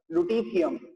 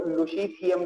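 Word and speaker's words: Lutetium: इर्बियम, thulium, डिट्रीबियम और लुटीथियम, या इसको लुशीथियम भी कहा जाता है, सही है, लुशीथियम कहें या लुटीथियम कहें, अलग अलग लोग अलग अलग तरह से इसको प्रोनाउंस करते हैं।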